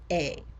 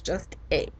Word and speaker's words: est: is elle est, elle est. Now you'll notice in the word a, it has 3 letters, right? E-S-T. You're only pronouncing one of them.